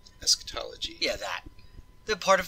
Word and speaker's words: eschatology: know the i hope i say it right escondology eschatology yeah that the part of theology concerned with